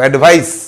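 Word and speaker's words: advice: বাট I don't take all আর অ্যাডভাইসেস, সি উচ্চারণটা দেখো, অ্যাডভাইস।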